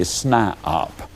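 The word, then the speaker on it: SNIOP: toe and they become what i call a snipeop now that's spelled s n i o p that is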